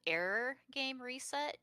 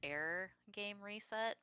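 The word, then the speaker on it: 404 GAME RE:SET: And I started 404, or actually it's actually called Error Game Reset, Yoko Taro's new gacha Oh, phone right. game. It's spelled 404, but if you look at the katakana, it's pronounced Error Game Reset.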